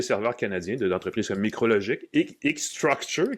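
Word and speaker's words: eStruxture: canadiens d'entreprises comme Micrologic, X-Structure, qui est dur à prononcer, mais qui est E-Structure avec un X au lieu du S, qui était montréalaise, qui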